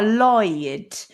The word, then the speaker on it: Lloyd: ask a question um how do you pronounce i think it's floyd but double l o y d which is a surname oh lloyd so i mean that